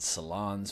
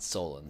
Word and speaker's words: Solondz: from director todd solondz I've heard him also pronounced this Todd salons but in interviews it always seems like as Todd stolen so that's how I'm gonna pronounce him um